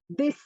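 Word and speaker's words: です: मैंने इसमें लिखा desu है, but it's pronounced as this.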